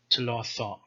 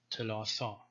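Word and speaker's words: תלת: vowel it becomes Th, as in the word for three, Tloth. Okay, so in the beginning it is T, but the second one is after a vowel, so it's Th, Tloth.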